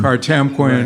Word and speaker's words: Kartemquin: And we would joke about having a film company someday called Kartemquin, putting the three names together. We thought it sounded like Potemkin, the famous Russian film.